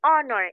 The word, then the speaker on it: honor: it using an because for the word honor letter H is silent here okay silent meaning we do not pronounce or give the use the sound of letter H okay instead we say honor instead of say instead